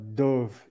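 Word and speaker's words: dubh: yeah like uh uh dove in the Celtic means black it would be spelled d-u-b-h they pronounce that b h like a V I believe something else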